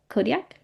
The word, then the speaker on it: Kodiak: Kodiak Island. Is that how you pronounce it?